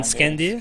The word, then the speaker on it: Skandr: Skandr? Yeah. Yes, this has been Skandr, Skandr.